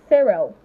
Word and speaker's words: cereal: Now, cereal falls under that category. Well, you can say the letter C there, making the sound S, like it's letter S.